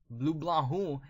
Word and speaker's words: Bleu Blanc: Bleu Blanc is how you say it.